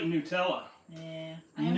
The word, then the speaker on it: Nutella: So it's like Nutella. Yeah. I am not a fan of Nutella. It is Nutella, not Nutella, in case you were wondering. Some people call it Nutella.